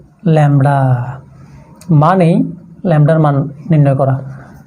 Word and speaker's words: lambda: Poison ডিস্ট্রিবিউশনের মানে কি, poison distribution মানে হচ্ছে যে ল্যামডা, মানেই ল্যামডার মান নির্ণয় করা, মানেই জাস্ট ল্যামডা লিখলে হয়ে যাবে। ল্যামডার উচ্চারণ কীভাবে, অনেকই দুভাষায় থাকে, আমি উচ্চারণটা শিখে দিচ্ছি।